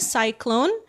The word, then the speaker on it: cyclone: Bacanya cyclone ya.